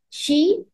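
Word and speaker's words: xi: nice beautiful blue light and the mantra is she it is x i we pronounce it as s i she okay keep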